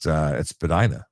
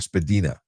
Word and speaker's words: Spadina: But I used to be at Spadina or Spadina, which is apparently the correct pronunciation, and I'd be there controlling the three-stage light.